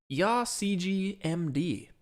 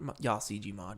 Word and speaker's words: YaCGMD: is YaCGMD. Not YaCGMod. It's YaCGMD. I've been saying it wrong this whole time.